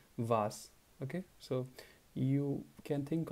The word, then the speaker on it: was: is the subject here the W word is was uh the pronunciation is a little bit different than the English was so we say I was there he was there she was there the German is vas okay so you can